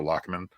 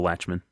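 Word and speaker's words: Lachemann: with Jerry Weinstein and Marcel lochman probably not pronouncing that right Latchman is it Latchman yeah Marcel Latchman and there's Dustin garos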